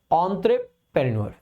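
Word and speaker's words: entrepreneur: सो देखेंगे, देखो ये जो वर्ड है ई से शुरू होता है लेकिन इसकी प्रोनाउंसिएशन ऑ से शुरू होती है, तो इसको बेसिकली क्या पढ़ते हैं, एंट्रेप्रेन्योर। ठीक है, सो एंट्रेप्रेन्योर, आर लास्ट वाला जनरली साइलेंट रहता है, सो एंट्रेप्रेन्योर। सो जैसे ही आप सेंटेंस मतलब इस वर्ड को देखते हो तो सबसे पहले तो ऑन ट्रेक पढ़ते हैं, यानी कि TER नहीं TRE होता है तो ये आपका गलत हो जाएगा।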